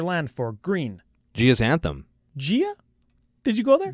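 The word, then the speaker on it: Gaea: for green Jia's anthem gia did you go there Gia Gaia Gaia remember guy his cradle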